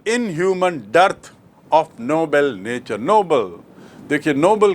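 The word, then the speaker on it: Nobel: ओ बी ई एल तो आपको स्पष्ट याद रखना चाहिए कि नोबल मतलब नेक नोबल मतलब उच्च श्रेणी का और नोबेल एक व्यक्ति का नाम जिसके नाम से पुरस्कार है।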